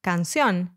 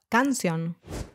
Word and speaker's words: canción: Note there's an accent on the O, that's why it is pronounced canción instead of canción.